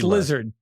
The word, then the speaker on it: Gila: And it's also I'm pretty I'm pretty sure it's pronounced Hela.